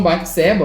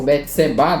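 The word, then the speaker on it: Bate-Seba: que ele cometeu com batseba ou betseba dependendo aí de como o pessoal pronuncia onde ele diz o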